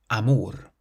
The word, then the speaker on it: amor: The next word means love, and it ends in an R. So where do we place the stress? Amor.